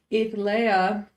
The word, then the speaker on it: Etha: this is eth Lea sometimes say her name wrong I just realized when I put they calling her Earthly but that's not really what her name is her name is Etha and she is the